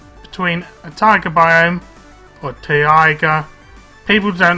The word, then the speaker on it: taiga: You can see you start between a taiga biome, or taiga. People don't like how I pronounce taiga, but it's T-A-I-G-A biome, and a swamp biome.